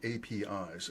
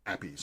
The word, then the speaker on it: API: And so in I have tried to to get myself instead of saying APIs which risks the confusion with traditional uh interpretations, I'm calling them appies. I'm pronouncing it as a word and we're making that the that's a term of art.